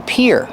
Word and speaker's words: pier: this is up here and the pronunciation is like ear and here this is the pier and you